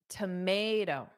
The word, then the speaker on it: tomato: So it's tomato. Dada. Tomato. Tomato.